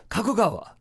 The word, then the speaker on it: Kakegawa: in kakegawa Japan but I'm probably mispronouncing that kakegawa na you say kagra but it's pronounced kakegawa you see a big difference between Google and